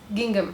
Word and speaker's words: gingham: Okay, so you pronounce it as gingham.